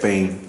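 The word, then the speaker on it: בין: Bane. Say it. Bane.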